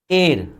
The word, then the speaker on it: heir: एयर, HEIR, इसको जानते हैं क्या पढ़ते हैं? एयर पढ़ते हैं। प्रोनाउंसिएशन ठीक कर लेना, इसको हेयर मत पढ़ना, एयर।